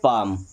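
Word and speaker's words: palm: पढ़ेंगे बम पी ए एल एम इसे पढ़ेंगे पाम ओके इस तरीके से एल हमारा चार जगहों पर साइलेंट होता है एल के बाद चाहे तो डी आई, एफ आई, के आए या एम आई।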